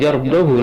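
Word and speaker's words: يَرْضَهُ: Yang ketujuh, lafaz yardahu lakum surat Az-Zumar ayat 7, haknya dhammah dan pendek.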